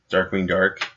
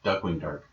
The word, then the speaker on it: Darkwing Duck: and that's Darkwing cool. Dark. Darkwing Dark, Duckwing Dark. Duckwing Dark. Yeah. We've been saying it wrong for years.